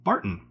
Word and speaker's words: Barton: there for a minute because your ears might have just perked up when i said barton thinking it should be barton or some other french pronunciation chateau leoville barton was started by an irishman an irishman with the last name barton specifically thomas barton and his family so when i say barton that's correct if i say barton